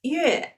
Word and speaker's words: 月: moons or months do you remember how to pronounce it it is yeah okay so let's look at the story for